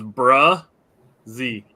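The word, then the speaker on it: Bresee: ruin his name Brian Breese man but we're all pronunciation that I saw was bruh Z okay um Steve said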